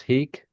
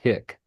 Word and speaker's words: hic: So is it actually pronounced heek? Well, the long I, yes, heek. Yeah, heek, not hick. Not hick. If I said hick, I apologize.